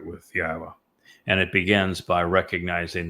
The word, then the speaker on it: Yahowah: revere Yahweh's name, and that you pronounce it correctly. And don't let anybody tell you that that isn't the correct way to pronounce it. It's obvious. Um, Yahwa, I explained how to pronounce three of the four letters and the very verb that he told us was the basis of his name, Haya.